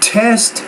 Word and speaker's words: test: And that word test, time, again, you want to make sure that you pronounce that T with a little bit more air, so be careful about that sound.